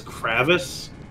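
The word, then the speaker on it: crevasse: of hard to tell did you just pronounce kvas as kravis everybody says kravis I've never heard it pronounced it that way Royal I can't call it wrong because it's not wrong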